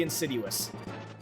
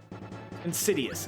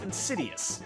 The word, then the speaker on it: insidious: Like it is it's hilariously insiduous. Insidious. Insiduous. Insidious. Really mispronouncing my words tonight.